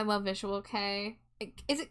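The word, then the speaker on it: kei: And then this Drago says, "I love visual K. Is it K? Is it Kai? I don't actually know how to pronounce it. I It's a genre I want to explore more personally." Key. Okay. Visual Key.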